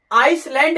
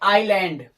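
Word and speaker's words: island: बीच में आता है आई और एल के बीच में एस आता है तो वहां इस साइलेंट होता है अर्थात इसका उच्चारण नहीं किया जाता है इसका उच्चारण नहीं करेंगे देखिए जैसे इस एल ए एन दी इसको आयरलैंड पढ़ेंगे आई लैंड पढ़ेंगे आपको आइसलैंड नहीं पढ़ना है या आइलैंड नहीं पढ़ना है इसको पढ़ना है आइलैंड वैसे दिया इसको आप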